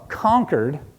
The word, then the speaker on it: Concord: Then you've got this other kid from Concord, New Hampshire, also a real place, just emphasis on the different syllable.